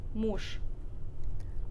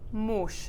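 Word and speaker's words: муж: all right next one we have more but we say mush mush yep which means husband okay mm-hmm all right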